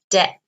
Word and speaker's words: debt: in in okay answer debt notice here the pronunciation debt okay we don't pronounce the b okay here is the